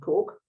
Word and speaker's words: Coke: Lady Mary Cook, it's spelt Coke, but pronounced Cook.